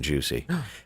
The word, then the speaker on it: Jussie: correct pronunciation that he Okay. requested at the trial. Oh, Yes. It is Jussie Yes.